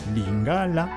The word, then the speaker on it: lingala: Ainsi donc, en lingala, d'abord, tenez compte du fait que la langue lingala, et non lingala, comme certains essayent de prononcer à la française, la langue lingala, l'accent tonique tombe, lingala.